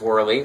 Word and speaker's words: Worley: Yours is Worley, like spinning things that whirl.